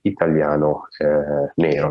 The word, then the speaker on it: italiano: other is black italiano that is pronounced in italian italiano italian uh of course